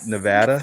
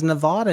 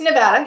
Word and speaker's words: Nevada: Is it Everyone down here says Nevada, and it drives me nuts. Yeah. How do you say pecan pie? Pecan pie. Pecan? Pecan. All right. Nikki, whatever. save us. We're already off topic. Nevada. It's Nevada.